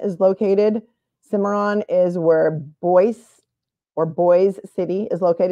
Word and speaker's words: Boise: located simmeron is where boy or boy city is located it's spelled Boise like Idaho but it's pronounced boy and then to the